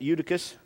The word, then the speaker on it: Eutychus: certain young man named eudivis eutychus that way you pronounce it eutychus being fallen into a